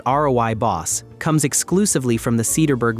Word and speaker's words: Rooibos: Rooibos, pronounced roy-boss, comes exclusively from the Cederberg Mountains of South Africa, from a plant called Aspalathus linearis.